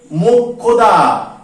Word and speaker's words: মোক্ষদা: শব্দের প্রথমে তাকে খ উচ্চারিত হবে, আর শব্দের যদি মাঝে বা শেষে বসে তখন উচ্চারিত হবে ক খ। কি উচ্চারিত হবে? ক খ। দেখো উদাহরণ লিখেছি আমি, এই যে মোক্ষদা, ময়কার ক্ষীয় দয়াকার, তাহলে ক্ষীয়র উচ্চারণটা কি করলাম?